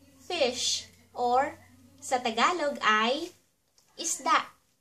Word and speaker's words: isda: So ----- let's do some pronunciation review. Let's start! For our first word, we have fish, or sa Tagalog ay isda. isda is da isda At next, kahit na, or even though.